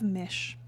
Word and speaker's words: Mis: So the story of Mish, and that's spelled M-I-S.